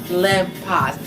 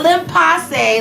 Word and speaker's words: Le Pas: The owner world of the legendary Le Pas. Not Le Passe like I used to say, and so many of American women used to butcher the name of this amazing boutique.